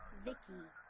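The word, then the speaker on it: VICI: by the way I'm VI i c i pronounced Vicky my Creator was B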